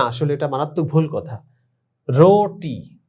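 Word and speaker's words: روٹی: রোটি, দেখো তোমরা, রে ওয়াও পেশ রো টে ইয়ে, রোটি। এখানে রুটি বললে কিন্তু ভুল হবে।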